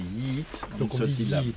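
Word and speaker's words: Yiğit: comment se prononce-t-il alors c'est un G mou comme on appelle en turc c'est en fait c'est une lettre qui ne se prononce pas qui fait la liaison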